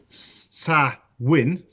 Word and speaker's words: Samhain: Samhain, a Gaelic word pronounced Samhain, is usually celebrated from October the 31st to